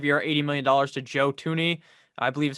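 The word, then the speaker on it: Joe Thuney: 80 million dollars to joe tooney i believe is how you say his name it's not spelled like that that's how you say it to the chiefs 80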